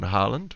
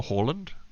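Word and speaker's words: Haaland: a striker now in harland or horland as i think it's pronounced uh so foden will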